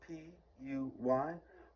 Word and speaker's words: Puy: However, I can't find French lentils are also known as puy, spelled P-U-Y, or puy. That's how I would pronounce it.